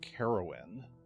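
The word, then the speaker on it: Carowyn: this is um an offering from uh oio caroan and I will spell that out for you a u s IO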